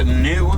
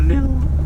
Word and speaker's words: gnu: or division Africa are named new that is spelled gnu that is for the sound that they make while they're hurting that is new new that's the sound they'll